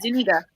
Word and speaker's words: Zuniga: Do you guys feel like that okay, so besides Jabari Zuniga, that's how you say it, Zuniga.